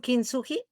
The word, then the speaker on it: Kintsugi: Is good the pronunciation Kintsugi? Yeah, it's fabulous. Perfect. Yeah, Okay, Kintsugi.